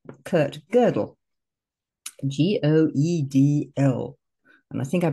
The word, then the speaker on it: Gödel: But he introduced me, not personally, but to this man called Kurt Gödel, G-O-E-D-L. And I think I pronounced it right.